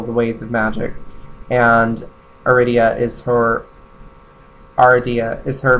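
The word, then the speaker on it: Aradia: time pronouncing her name I usually say aridia but it's more like aridia and this is the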